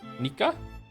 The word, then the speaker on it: Nika: If you're wondering, my name is pronounced like like Niko but with an a sound instead O. Nika. Niko. Nika.